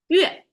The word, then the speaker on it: 月: 月 is how Chinese pronounce it, and I couldn't find anything that's kind of English equivalent like 月. We don't really have a 月 pronunciation in English, so you have to try harder there.